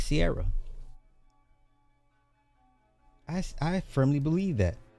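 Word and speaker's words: Ciara: It's Sierra, not Siara.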